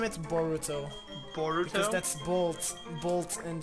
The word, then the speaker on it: Boruto: If you change the U to an I, instead of saying Boruto, no. You would be saying burrito. And that would be burrito.